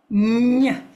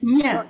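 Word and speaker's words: ña: Okay, so this is the nya. Not it's nya, N-Y-A, pronounced as N-Y-A, nya. Okay.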